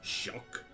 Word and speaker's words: Jacques: Jack its shocked that's how I pronounce it I felt the exact same where's the English way but like it's pronounced Jacques Jacques Jacques Cousteau so that's my sylveon name